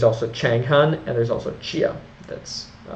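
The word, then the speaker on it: Xia: changan and there's also Chia that's c h n g hyen h n and chia x i a so those are the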